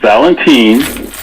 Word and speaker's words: Valentin: talking about the guy's first name is valentine just like valentine without the e his last name i'll